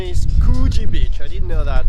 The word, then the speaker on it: Coogee: Actually, the pronunciation is Coogee Beach.